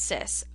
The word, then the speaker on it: cis: CIS is the c i and so it's pronounced CIS R CIS Theta so we'd have to pronounce